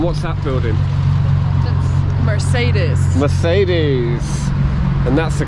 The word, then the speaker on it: Mercedes: Mercedes. And that's the correct pronunciation. No, it's Mercedes. Mercedes.